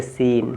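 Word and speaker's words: scene: एस ई एन अगर अगर कहीं लिखा है एस सी ई एन ई तो आप इसमें सी साइलेंट एन ई साइलेंट तो आप पढ़ेंगे सीन क्या पढ़ेंगे सीन सीन माने दृश्य सीन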